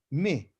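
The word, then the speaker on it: מי: into an english letter me like mia me okay like mit me me means who ma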